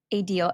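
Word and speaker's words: ADIL: tell us more about a deal and it's spelled a d i l just tell us more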